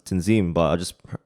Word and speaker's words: Tanzim: example is like my name it's like prominently pronounced tenzin but i just pronounced it because i've been